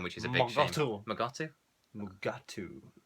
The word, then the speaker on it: Mugatu: Magu doesn't turn up for a very long time, which is a bit magu. Mugatu. All right. I pronounced a false word wrong.